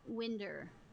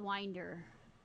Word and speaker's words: Winder: somebody from around there if they call it Winder it's called Winder even though it's spelled like Winder you say it like Winder